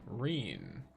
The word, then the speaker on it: Rin: Pronounce it as a long e. Rin.